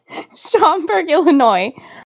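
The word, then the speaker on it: Schaumburg: am I supposed to say shamberg Illinois shamberg Illinois I like how I'm just your pronunciation guide I know it like that's what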